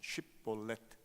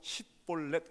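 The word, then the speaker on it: שיבולת: 이스라엘 사람들 넘치는 강, 넘치는 시내 이런 단어가 히브리어로 쉽볼렛입니다. 쉽볼렛. 그러니까 그 이스라엘 사람들은 전부 다 쉽볼렛 이렇게 발음을 하는데 에브라임 사람들은 이상하게 쉽자를 못하고 십볼렛 이렇게 합니다.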